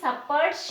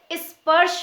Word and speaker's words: स्पर्श: क्या पढ़ते हैं देखिए ये लिखा एस है लेकिन हम उसे saparsh नहीं पढ़ते हैं हम उसे स्पर्श पढ़ते हैं यानी इस 100 को